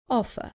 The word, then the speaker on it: offer: Offer. Remember that in British English, the R at the end is not pronounced, so the last sound is an offer.